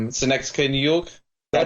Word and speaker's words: Synecdoche: Like one of them is called, if I pronounce it correctly, Synecdoche, New York.